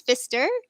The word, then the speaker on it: Pfister: it right and you correct me so fister is that right all right okay good good